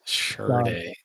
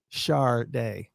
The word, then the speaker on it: Sade: Actually, if you look at her very, very first album, underneath her name in parentheses, it says pronounced Sade. Sade, like SHAR and then DAY.